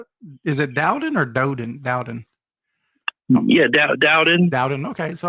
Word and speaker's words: Dowden: Dowden.